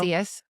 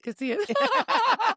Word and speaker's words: Casillas: Casillas. How's it going? It's Yeah. fine. Casillas, it's fine. I was like, it's silent. Go back to my Spanish class. People always mispronounce it.